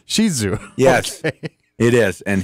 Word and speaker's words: Shih Tzu: It's pronounced Shih Tzu. Shih Tzu. Yes, okay. It is, and he is a doll. Since when? 6 o'clock tonight, or no? That's the correct. It's not Poop Zoo.